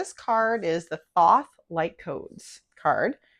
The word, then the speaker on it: Thoth: So even though it's spelled teach o t h is pronounced Thoth.